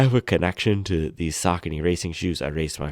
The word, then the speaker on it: Saucony: box here, they say Saucony. They spell out sock, A, and knee, because that's how you pronounce it. I think a lot of people in the past had called them Saucony and Saucony, so this is one